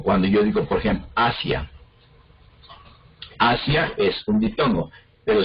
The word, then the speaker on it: Asia: Como cuando yo digo, por ejemplo, Asia.